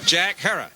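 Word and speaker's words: Jack Herer: shot by a cop Jack her have I pronounced it correctly Jack her Hera okay Jack Hera Jack herrer Jack Jack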